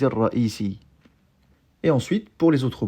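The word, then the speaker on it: الرئيسي: Bon, en pratique, on ne prononce pas la voyelle qui est sur le ya ici, quand il porte une shadda. Donc on dira dawr al-muhaffiz ar-ra'isi.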